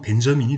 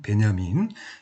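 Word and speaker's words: Benjamin: 그래서 그 독일어권에서는 이걸 읽을 때 베냐민이라고 읽고, 이게 이제 미국으로, 영미로 넘어가면 벤자민이 되는 거야, 벤자민, 베냐민.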